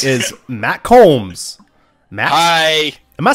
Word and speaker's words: Coombs: So to the right is Matt Coombs.